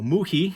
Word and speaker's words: Wuyi: mu he mountain so mookie is kind of like a cantonese pronunciation of wu yi uh which is the